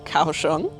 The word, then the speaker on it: Kaohsiung: Lily has brought me to a viewpoint of her city, which I finally learned to pronounce. It's called Kawong.